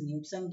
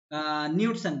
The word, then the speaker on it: Knudsen: Knudsen or Knudsen gauge, whatever you to pronounce it, right? The better pronunciation is Knudsen gauge.